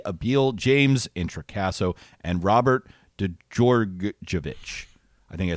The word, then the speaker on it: Djordjevic: Monsters, Book 2 by Matt Colville, Willie Abiel, James Introcaso, and Robert Djordjevic. I think I said it right this time. Great job. Djordjevic.